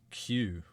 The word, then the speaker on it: queue: The one I love is queue. It is literally the letter q followed by what, five silent letters?